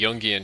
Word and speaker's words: Jungian: Shadow, it doesn't have a particular name, is the Yungian shadow or it's spelled Jungian if you want to do any creative Googling.